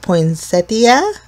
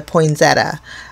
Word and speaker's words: poinsettia: Now there's controversy on how to say this. Some people call it poinsettia. Or I grew up in a very Italian household, and we just called it a poinsettia.